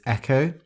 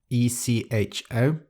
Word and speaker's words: echo: The next word is echo, E-C-H-O, not pronounced echo.